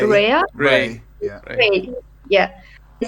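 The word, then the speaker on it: Rae: to be honest, I summoned, how do you pronounce it? R-A-E, right? Ray. Rhea?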